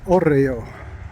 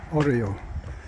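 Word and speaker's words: hórreo: And I looked up the word because I didn't want to pronounce it incorrectly, although I probably still will. Oreo. Oreo.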